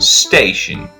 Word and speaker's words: station: Now, it's pronounced station. I'm going to underline T, I, O, and N. Just keep that in mind. TION sounds shen, so station.